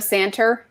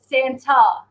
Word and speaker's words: Santa: at the end of santur yes and we have to tell her no no it's Santa and now she doesn't